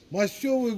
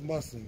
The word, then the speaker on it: масные: Мастевые голуби. Они масные, мы мастевые говорим Баку, но правильно говорить масные.